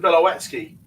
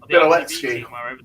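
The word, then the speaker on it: Białecki: I tell you, it's like Sebastian Bilowetsky. There's no W in it, but it's pronounced with a... Yeah, that one made me laugh. Yeah. We've been calling him Sebastian Bilowetsky.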